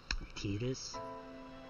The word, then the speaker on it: Tidus: So, Tidus, that's exactly how you would pronounce T-I-D-U-S in French.